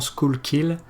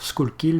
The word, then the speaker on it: Schuylkill: qui coule en pennsylvanie c'est un nom d'origine autrichien d'ailleurs qui ne se prononcent pas forcément school qu'il mais c'est la manière que la plupart des gens le prononce donc on va y aller pour school qu'il même si ces crises